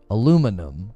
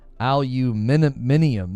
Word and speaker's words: aluminium: Well, they actually pronounce aluminum with all of the vowels. We just don't. We just yank one out. Aluminum. We're just like, just take some of the letters out. Aluminium is like aluminium.